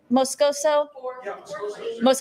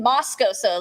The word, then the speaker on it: Moscoso: now to the 400 am I saying it right Peter Moscoso okay I kept saying Moscow so last time is what it was yeah yeah I got